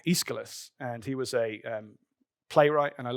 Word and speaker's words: Aeschylus: So this guy has a name that's very difficult to pronounce. It's Aeschylus, and he was a playwright, and I love